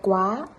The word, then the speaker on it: quá: Ensuite, le A sans rien, ça se prononce comme un A français, comme dans l'exemple dep, wa, avec l'accent du Sud. Et avec l'accent du Nord, ça va donner. Đẹp quá.